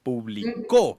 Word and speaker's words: publicó: Publicó, con tilde en la U al final, significa que yo publiqué algo.